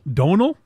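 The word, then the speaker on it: Domhnall: name I think it's domal Don it's Donal Donal Donal I know there an m in there don't pronounce it the m and the H are silent yeah it's an Irish thing Don Mr redheaded from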